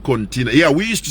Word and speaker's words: Cortina: It's not Cortina.